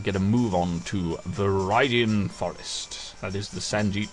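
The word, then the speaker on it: Viridian Forest: rattatas and we'll get a move on to veridan Forest that is the San pronunciation of viian forest no it's verian I checked it is definitely definitely verian Forest um okay thank you very much for watching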